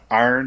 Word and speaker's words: Aaron: to grab me some iron as uh how would you say iron how do you say aaron and pittsburgh i yeah for sure yeah iron yeah like iron city uh great beer i've